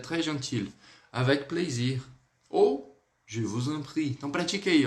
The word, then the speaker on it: je vous en prie: Com o S a gente vai ligar, então vai ficar com o som de Z.